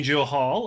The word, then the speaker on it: Johal: pro as well as jamie johal with an l jamie joe hall i said it right uh all the way